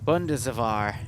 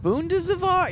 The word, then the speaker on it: Bundeswehr: Bundeswehr. Is that how you pronounce it? Bundeswehr?